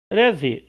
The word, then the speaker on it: Reze: Rezi, que é a pronúncia japonesa.